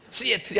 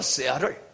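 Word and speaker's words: Seattle: 컴퓨터가 아니고 컴퓨터, 재떨이가 아니고 재러리, 배터리가 아니고 배러리, 시애틀이 아니고 세아를, 밀크가 아니고 밀크. 발음을 똑바로 해야 돼요.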